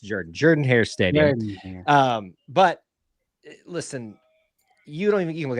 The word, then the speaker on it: Jordan-Hare: Let's be clear; it's pronounced Jordan. I'll forgive the Bama fans for mistake, but I would get butchered if I didn't correct myself on that. It's pronounced Jordan-Hare Stadium.